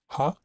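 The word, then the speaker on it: は: Ha. Uh when used as a particle, this is one of the few characters that has another pronunciation. And as a particle, it is pronounced as wa.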